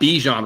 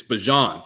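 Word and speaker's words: Bijan: So, it's Michael Penn's show and it's not Bejan Robinson, it's Bjon, folks. Like I I sent this to Tyson. I was like, I'm so pissed that I saw this because now I have to pronounce him Bjon.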